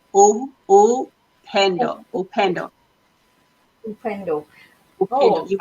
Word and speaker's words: Upendo: This is how we say, oh, Upendo, Upendo, Upendo.